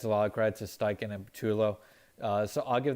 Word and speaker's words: Steichen: um offense quarter shane steichen um am i pronouncing that right steiken yeah yep yep um i thought is he